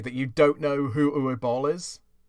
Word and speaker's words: Uwe Boll: But yeah, the one I want to go off of is a director by the name of Uwe Boll.